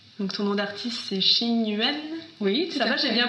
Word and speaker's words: Ching Yuan: Donc ton nom d'artiste, c'est Xing Yuan. Oui, ça va, j'ai bien prononcé. Oui, c'est bien, c'est Xing Yuan.